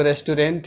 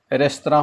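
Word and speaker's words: restaurant: आप लोगों में से बहुत सारे लोग कहेंगे ये तो रेस्टोरेंट है। रेस्टोरेंट इसे इंडियन लैंग्वेज में पढ़ा जाता है, जबकि ये फ्रेंच वर्ड है और फ्रेंच में इसका उच्चारण शुद्ध रेस्तरां होता है।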